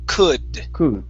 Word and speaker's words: could: try that okay now in this word the l is silent we do not pronounce them so instead of cool it's could could and would good boot there you